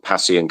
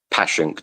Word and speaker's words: Passyunk: It's called Passyunk Avenue or Passyunk, depending on how you pronounce it. Passyunk.